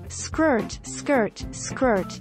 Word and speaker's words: Skrrt: the answers from us skirt skirt is an onomatopoeia for the sound of a card drifting or wheel screeching it is pronounced like skirt usually with a high-pitched tone it is a slang